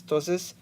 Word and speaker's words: ptosis: eyelids called ptosis and I want to bring your attention to the correct pronunciation of this genetic disorder name that is ptosis which is makes it